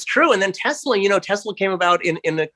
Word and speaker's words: Tesla: Do you happen to know whether the correct pronunciation is Tesla like an S or Tesla like a Z? I think it's with an S.